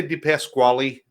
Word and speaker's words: DePasquale: I think when my family came over from Italy, they dropped the E to try and hide the vowel at the end. So technically, DePasquale is the correct pronunciation of the name.